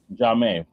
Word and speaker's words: Xiaomi: So basically, there's a company called, and I probably butchered the name, but Xiaomi, I think how you pronounce it. It's XAIOMI. Basically, they launched Xiaomi. Xiaomi.